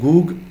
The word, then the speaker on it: Gog: بلکہ اگر ان کے تلفظ میں اس کو پکارا جائے تو گوگ اور مگوگ ہے, جس کو پھر انگلش میں گوگ اینڈ مگوگ کر دیا گیا, کیونکہ ان کے ہاں جیم گاف کی طرح پڑھا جاتا ہے عبرانی کا.